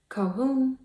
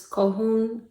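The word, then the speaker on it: Colquhoun: And sometimes it's Cohoon, where you can hear the L, and sometimes it's Cohoon, where you don't hear the L. Cohoon or Cohoon.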